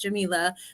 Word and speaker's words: Jamela: So that's why we call her Professor, and it is pronounced Jamela for all of those interested.